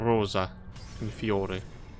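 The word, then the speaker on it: Rosa in Fiore: Or Rosa Infiore. That's how you say it.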